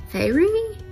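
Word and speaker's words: Feyre: talking about uh when 19 year old huntress fairy f e y r e fairy that's what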